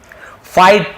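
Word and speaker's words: fight: फाइट, फाइट यानी लड़ना, यहाँ पर भी जी साइलेंट है, फाइट बस पढ़ेंगे, ठीक है, फाइट यानी लड़ना।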